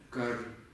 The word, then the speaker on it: དཀར: Первая не читается. Читаем корневую. Она Да. высокий тон, а в этой читаем Как? только согласную Так и будет читаться как. кар.